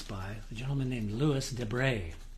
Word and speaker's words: Debret: a gentleman named Lis de D EB r t French pronunciation he says I don't know if there's much French blood left in there but uh it's pronounced de this is an OM